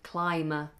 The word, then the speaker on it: climber: else you said um climber climber that's because climb has a silent B that's why that letter is silent we climb climb mountains